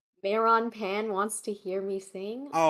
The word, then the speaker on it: Meron Pan: Meron Pan wants to hear me sing. Oh, Meron like melon. Meron pan. Meron pan. I pronounce my Rs. That translates to melon bread.